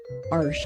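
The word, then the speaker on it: Arches: made for watercolor paper my favorite is arsh arsh I I learned how to pronounce that arsh so that's my favorite but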